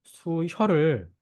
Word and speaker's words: 수혈: 혈이라고 하는 것은 한자로는 수라고 읽는 수혈을 의미하는 단어인데요.